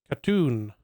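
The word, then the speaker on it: Khatun: Rhymes with moon or spoon with stress on the second syllable.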